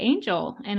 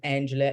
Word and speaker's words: Angela: I actually never realized Angela Angel because it's such a different pronunciation yeah wow it's basically angel with a a I love that does